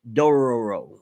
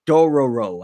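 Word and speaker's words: Dororo: my radar along with Dora a row or Dora row I think that's how you pronounce it yeah shield heroes matter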